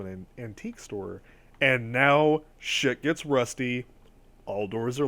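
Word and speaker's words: 四: So, just as a quick aside, the number 4 in Japanese is pronounced shi.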